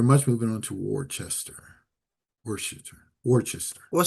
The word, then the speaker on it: Worcester: Worester. Okay. Worcester. Worester. Gotcha. Worester. Thank you. Properly pronounced worester.